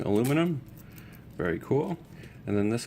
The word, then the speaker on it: aluminium: And spelt with 2 I's. Aluminium. I guess that's the English way of saying aluminum.